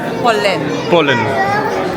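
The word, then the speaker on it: Polène: Tiana has just explained me that the correct pronunciation is Polen. Is it Polen or Polen? like the English word pollen, Pollen.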